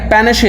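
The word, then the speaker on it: panache: पेनशे इसको प्रोनाउंस करते हैं। पेनशे।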